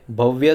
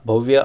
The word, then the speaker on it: भव्य: भव्य scheme को भव्या भव्य आप बोल सकते हो। मेरे हिसाब से भव्य स्कीम इसका सही प्रोनाउंसिएशन है।